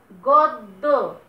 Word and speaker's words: গদ্য: এখন তুমি উচ্চারণটা কানে শোনো, কি উচ্চারণ করছো? গদ্য, গদ্য, দ দুইবার উচ্চারণ করছো এবং মাঝের যে দটা আছে এইটাতে কিন্তু কোন রকম মানে স্বরধ্বনি সাহায্য নাই।